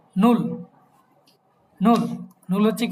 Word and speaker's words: null: English ছিল 0, সেটা হয়ে যাবে কি ডয়েচে নুল।